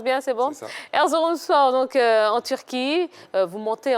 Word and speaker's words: Erzurumspor: Aujourd'hui, donc, vous êtes au club Erzurumspor. Je prononce bien, c'est bon? C'est ça. Erzurumspor, donc en Turquie.